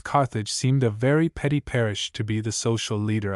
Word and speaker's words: Paris: Budlong had raved over the places she was going to travel, Paris, now pronounced Pereie, London, Vienna, St.